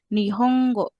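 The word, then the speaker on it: 日本語: Nah, ini akan dibaca menjadi nihonggo. Jadi kayak double gitu loh, Teman-teman. Nihongo. Nihongo beda kan sama yang Nongo sama Niongo.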